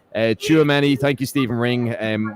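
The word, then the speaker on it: Tchouaméni: an erratic player um I got the correct pronunciation uh chuamani thank you Stephen ring and what did I say chuchimando but um I mean he's he's an excellent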